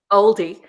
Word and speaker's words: Aldi: call it different though how do you say it stuff LD Aldi Aldi that is oldie that we say we say our Bells